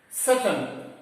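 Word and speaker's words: Tsetan: Now coming to the second character here, Seton, T-S-E-T-A-N, but we used to pronounce as Seton.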